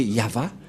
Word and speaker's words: Yahvah: de de yava et la prononciation de y h selon les hébreeux c'est yava et personne ne peut